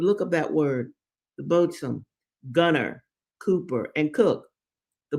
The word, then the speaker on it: boatswain: Now, boatswain is smell- is spelled b o a t s w a i n. I first thought it was boatswain, but it's boatswain.